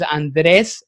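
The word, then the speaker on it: Andrés: And if we do, that can actually, pronounce it the right way. So I appreciate Yeah, rolling the R's, right?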